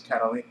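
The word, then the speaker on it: Cataleya: character in the movie, her name is Catalea. I mean, that's the right pronunciation of the name.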